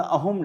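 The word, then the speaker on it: Ahom: क्योंकि असम लैंग्वेज के अंदर थ वर्ड नहीं होता। ह होता है। असम में स प्रोनाउंस नहीं होता। इस करके वहां का जो एंपायर था that is known as अहोम empire. Assam नहीं बोलते उसको अहम बोलते हैं। तो असमीज जब अपनी स्टेट को प्रोनाउंस करते हैं वो भी अहम ही कहते हैं।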